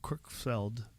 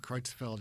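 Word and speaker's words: Creutzfeldt: right like cannibals when they get that Jacob crookfeld Jacob kreutzfeld yeah yeah thank you for pronouncing that better well when I was a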